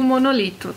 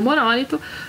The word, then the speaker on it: monolito: aí sim eu digo monolito tá e existem as duas pronúncias você pode dizer monolito ou monólito como eu digo monolito